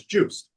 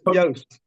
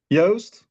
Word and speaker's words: Joost: And I just want to make sure from the get-go I'm pronouncing your name correctly as Juice. No, but that's okay. Ah, it is Yoast. Say it one more time. Yoast.